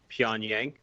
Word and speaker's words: Pyongyang: How do you pronounce North Korea's capital? Pyongyang.